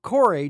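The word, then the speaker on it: Kore: vastly different the Mis Reliant core or core depending on which way you prefer to call it the official pronunciation though is cor and the Drake heral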